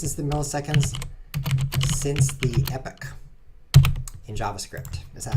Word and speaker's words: Epoch: the EP this is the milliseconds since the Epic in JavaScript is that how it's pronounced let's find out because that's such a